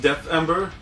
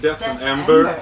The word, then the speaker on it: Deathember: hard to pronounce yeah it's actually pronounced death amber like death amber yeah that's kind of